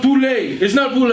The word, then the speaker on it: Pule: Honestly speaking, so my name is Pule, right? Mm-hmm. If you're South African, you would say Pule. Anybody from you know, that's what it is. So the emphasis is definitely on a different syllable.